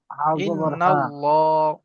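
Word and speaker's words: إن الله: খারাজ জবারলা লাম ইন্নাল্লাহ ইন্নাল্লাহ আল্লাহ হা জবর হা জবর হা ইন্নাল্লাহ ইন্নাল্লাহা ইন্নাল্লাহা ইন্নাল্লাহ ল উচ্চারণ করার সময় ঠর দূর গোল হয়ে যাবে ইন্নাল্লাহা ইন্নাল্লাহা ইন্নাল্লাহা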